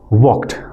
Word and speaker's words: walked: you pronounce this word walked we have to produce Use t sound at the end. Walked. Walked. Walked. Not walked.